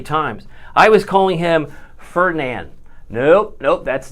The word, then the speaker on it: Fernand: Of course, it's not Ferdinand. It's Fernan. Fernan. Fair. Like a county fair. Fair is the actual correct pronunciation.